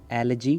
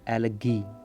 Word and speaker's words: elegy: तो प्रोनाउंसिएशन के ऊपर ध्यान देना कि that I am saying एलजी नॉट एलगी, नॉट ग बट ज।